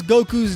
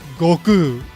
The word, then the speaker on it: Goku: If you pronounce Goku's name Goku, you're a dirty Englishspeaking barbarian because his name should actually be pronounced Goku.